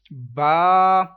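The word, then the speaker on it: ب: so now let's read ba i can't read this letter like b b is wrong totally wrong that is not arabic accent if you want to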